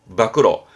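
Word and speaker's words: 暴露: 때문에 폭로입니다 발음은 밥그릇 밖으로 예 폭력의 폭 자인데 원래 폭은 보러 가요인데 폭로만큼은 밖으로 밖으로 폭로할 때는 안으로 하지 않죠 밖으로 하는 거죠 그래서 폭로는 밖으로 밖으로 안으로 아니고 밖으로라고도 외우기도 합니다 외우려고 벌써 다 씁니다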